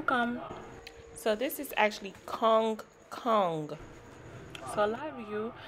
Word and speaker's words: come come: Remember, it's kong kong. It may sound like kum kum, but it's actually kong kong.